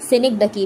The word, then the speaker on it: synecdoche: लेकिन इसको सनिक डकी बोलते हैं।